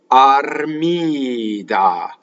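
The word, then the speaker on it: Armida: And the accent is in the middle of the word, and it's on the penultimate syllable. It's on the second to last syllable. So it is Armìda.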